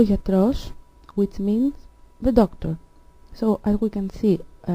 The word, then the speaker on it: γιατρός: So, ο άνθρωπος, which means the human, ο γιατρός, which means the doctor. So, as we can see, ο άνθρωπος has an accent on the first syllable, but ο γιατρός has an accent on the last syllable.